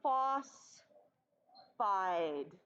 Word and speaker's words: phosphide: so this is sodium phos phide remember just one silhouette one syllable and then the eyed so phosphide okay so this is sodium